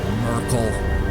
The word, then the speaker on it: Myrkul: Merkel. I am never going to get over the fact that that is his canonical pronunciation of his name.